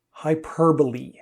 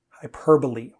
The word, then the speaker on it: hyperbole: The problem is towards the end. Hyperbole. Hyperbole.